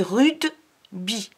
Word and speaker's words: rugby: Et tu vas voir, rugby, c'est bizarre parce que ça s'écrit rugby et ça se dit rudeby.